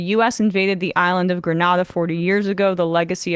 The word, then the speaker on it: Grenada: But it became an English colony, and yeah, they call it Grenada.